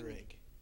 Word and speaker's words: Uhrig: Uhrig. Spell that. Uhrig. I can say that. Uhrig.